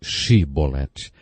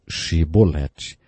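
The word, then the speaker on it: Shibboleth: regiões do nosso país eles não conseguiam pronunciar o som ch e por isso diziam se bonetti ao invés de che bolatti zé degolou 42 mil homens porque eles não conseguiram dizer se bonetti algumas pessoas aplicando essa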